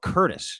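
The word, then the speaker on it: Courtice: like Pickering Ajax ashaa Curtis if you will that's right and Curtis isn't spelled like Curtis's name it's like CTI it's most up way to spell Curtis of all time so you're a Curtis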